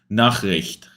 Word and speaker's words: Nachricht: With the R after a CH is difficult. Nachricht.